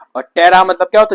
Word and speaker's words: ptera: तो P silent होता है इसमें। तो टेरा मतलब क्या होता है, विंग्स, याद रखो ये वाली बात, छोटी छोटी बातें।